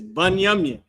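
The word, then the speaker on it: בנימין: How you say that in Hebrew is Banyamin.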